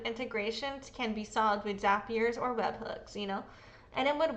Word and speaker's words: Zapier: The fucking company says it's Zapier like happier, so fuck it, bitch. I'm saying Zapier.